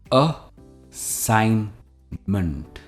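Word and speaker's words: assignment: की तरफ जो है अ साइन मेंट हम इसे एंड में मेंट नहीं कहते यह है मंट असाइनमेंट असाइनमेंट का मतलब होता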